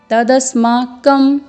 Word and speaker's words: तदस्माकं: बलम में लवर ऊपर बिंदु है तो इसका उच्चारण अपर्याप्त अम्म में मौका होगा परया तप्तं तदस्माकं यहां पर भी मौका होगा और बलम यहां